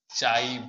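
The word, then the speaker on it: chi: है, चाई ए माइनस चाई बी, इसको प्रोनाउंसिएशन करते हैं चाई, सी एच आई, ये क्या है बेसिकली एक्स टाइप हम लोग लिखते हैं, ये क्या हो जाएगा चाई, ऐसे इसको बोलेंगे, आप एक्स भी बोलेंगे तो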